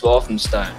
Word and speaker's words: Walthamstow: Walthamstow? Yes, Walthamstow. Walthamstow. Okay, I had the wrong emphasis on the wrong syllable.